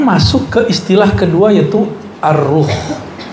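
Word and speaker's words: الروح: Sekarang masuk ke istilah kedua, yaitu ar-ruh. Bukan roh ya, ar-ruh. Kalau roh apalagi tuh ya. Bacanya ar-ruh pakai alif lam.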